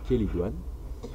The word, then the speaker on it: chélidoine: La chélidoine, alors ça s'écrit chélidoine, mais ça se prononce chélidoine, ou herbe à verrues, précisément parce que elle aide à supprimer les verrues grâce à sa sève.